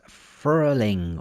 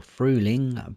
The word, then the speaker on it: Frühling: This is Frühling or Frühling by Kali, although it's spelled Ka77E.